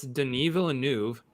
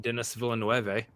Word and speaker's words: Denis Villeneuve: all hear about this denis villeneuve i think that's the proper way to say his name not dennis villanuev uh has a comment